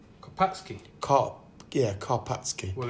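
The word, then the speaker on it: Karpacki: it's from poland and with my limited understanding of the polish language i think it's probably pronounced karpatsky kopsky kopp yeah karpatsky well it's a nine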